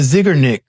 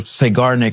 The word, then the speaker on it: Zeigarnik: The zigernick or seigarnic effect depending on how you want to pronounce it.